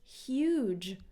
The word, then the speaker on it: huge: truth the world is huge soft G sounds like a J huge the world is huge